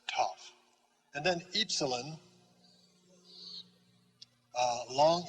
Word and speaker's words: tau: t sound just like in english t t pronounced toff and then epsilon long e as in feet